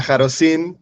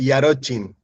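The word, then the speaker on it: Jarocin: Eh, en español sería jarosin, pero en polaco es yarochin.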